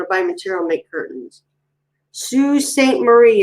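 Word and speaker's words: Sault Ste. Marie: buy material make curtains sue saint marie is how i pronounce that yeah our son he's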